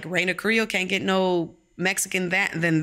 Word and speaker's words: Raina Carrillo: you know, even though my dad says, say it like you mean it, Raina Carrillo. So that's how I'm supposed to actually say it.